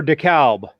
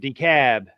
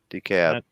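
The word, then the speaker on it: DeKalb: um so yeah so wield do you actually pronounce the L in decab is it decab or decal decab decal or is it decab decab yeah okay decab the Cab County yeah decab like hell that's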